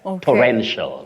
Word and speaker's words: torrential: not there you just say sh sh for the terminal that is the ending part of that word torrential torrential got it Rel